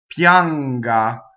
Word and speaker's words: pianga: The GA is hard because it's GA. GIA would be ja, right? So ga is hard, right? So when we make ga, we do that with the middle of our tongue, and the N goes right up to that G, right?